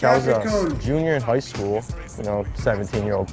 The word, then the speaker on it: Capicchioni: All right, my name is Capicchioni. I'm from Macomb. Y'all know I paused it. We ain't gonna speak on it. Capicchioni. Okay, that's how you say it.